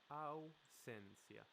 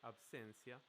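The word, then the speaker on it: ausencia: the latin word absentee and in spanish it's au sensia so you change the b for you if you were to say something like absencia people would still understand you yeah an excellent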